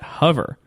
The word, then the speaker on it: Hover: supposed to pronounce it you're saying it right I don't know what they were said you pronounce it Like H am I supposed to say hover no you're not it's hover I I maybe it's because you emphasize the the u sound I don't know just keep just keep saying hover it's fine yeah you pronounce something's